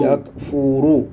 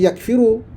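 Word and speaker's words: يكفر: fi'il mudhar bacanya yakuru yakfuru Ha jangan jangan silap baca yakfiru tak ada makna kafara baca fi'il mudariknya mesti yakfuru wajib tu ya wajib baca yakfuru razzaqa mesti fi'il mudhariknya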